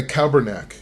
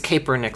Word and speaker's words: Kaepernick: Oh, Caper, yeah. Did I say his name wrong? I think so. I think it's Kaepernick, something like that, but yeah.